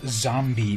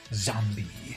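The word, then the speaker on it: Xombi: There is a comic book, I believe, named Zombie, but with an X. So X-O-M-B. Oh, and it's spelled X-O-M-B-I. Zombie.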